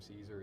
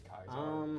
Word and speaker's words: Kaiser: know what true Vegas they don't pronounce his name Caesar it's kaisar oh oh yeah that's right